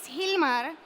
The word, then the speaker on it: Gilmar: to introduce myself so my name is Hilmar with a G but it's pronounced like if was an H because my mom's my